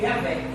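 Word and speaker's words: Javé: disso que o verdadeiro nome do senhor se pronuncia de rei V Rei quatro leos do hebraico se declara yavé o senhor o eterno aonde até mesmo dentro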